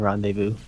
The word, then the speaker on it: rendezvous: I can learn Oh the Z is also silent in rendezvous yeah it's it's re